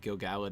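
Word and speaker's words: Gil-galad: pronounced gilgalad don't let me corrupt you maggie gilgallit is how it's pronounced it's one of those names i've been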